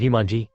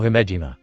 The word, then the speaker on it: Himejima: Kanu Jumanji? Or was it Himanji? Naruto tried to remember her name. It's Akeno Himejima.